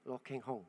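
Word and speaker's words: Lo Kheng Hong: Saya baca-baca ada satu investor, namanya agak susah nih. Lo Keng Hong. Ya, salah ya bacanya. Lo Keng Hong. Ya, udah benar.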